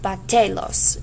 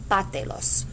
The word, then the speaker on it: bátelos: If you don't add the accent, okay, my stress would naturally fall on batelos. It would naturally fall on the te. And you don't want batelos. You want batelos.